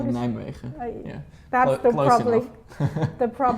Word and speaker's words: Nijmegen: How do you say- Nijmegen.